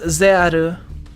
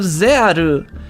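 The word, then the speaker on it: ZEXAL: not he's not messing with me yeah it's pronounced zeru i mean it it's it's right here like it says right here on the wiki like using the power of zearu it you can't argue with katakana i'm sorry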